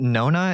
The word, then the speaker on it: Nona: Is it Nona? Is that how you pronounce it? Yes. What is that? So it's like no sodium. Oh, no NA.